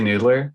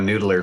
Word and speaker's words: NDLR: So how do you say it? You say Noodler? I say Noodler, but it's NDLR. I think it is Noodler.